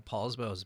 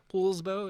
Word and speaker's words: Poulsbo: Poulsbo, is that how you say it? Everybody says Paul, but it's not Paul. Paul.